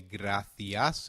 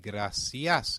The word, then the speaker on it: gracias: There's a key difference in how gracias is pronounced in European Spanish versus Latin American Spanish.